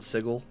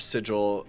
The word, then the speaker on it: sigil: Dungeons and Dragons vtt code name sigil it's sigil right not sigle it is well it should be sigil but